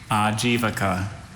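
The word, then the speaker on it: Ajivika: Are there any alternate pronunciations? Just the one. Ajivaka.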